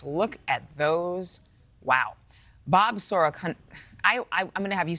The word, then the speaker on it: Sorokanich: Bob Sorokanich is all right. Some of my own family can't pronounce it. Thank you for being forgiving. Bob Sorokanich, I know how to say it, an automotive